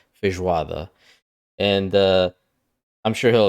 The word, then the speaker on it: feijoada: is pronounced feijoather not feijo wada you don't break it up like that you would say it all fish water and uh I'm sure